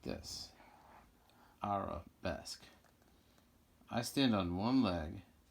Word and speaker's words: arabesque: Arabesque.